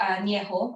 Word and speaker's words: añejo: And then the oldest would be añejo, and I remember that because it kind of rhymes with viejo.